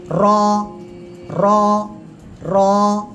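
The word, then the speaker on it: راء: র র র। এই র অক্ষরটা মোটা আওয়াজে উচ্চারণ হবে।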